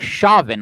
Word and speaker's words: Chauvin: was restrained by a Minneapolis police officer, Derek Chauvin, I believe it's pronounced, who knelt on his neck.